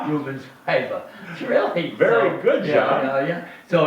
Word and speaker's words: Rubens Paiva: Rubens Paiva.